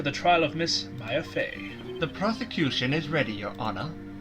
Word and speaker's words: Fey: Fey.